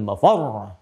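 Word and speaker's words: مفرّ: Fa idza bariqal basar wa khasafa al-qamar wa jumi'a asy-syamsu wal qamar, yaqulul insanu yawma idzin ainal mafar. Mafar ada tasdidnya tuh.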